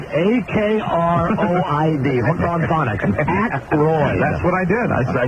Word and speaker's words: Aykroyd: Ackroyd.